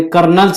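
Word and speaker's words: colonel: सी ओ एल ओ एन इ एल हे कर्नलच spelling आहे आपण कर्नल pronunciation is different and spelling is different त्यामुळे ह्याच्यामध्ये खूप कन्फ्युजन होतं तर हे आपल्याला माहित पाहिजे.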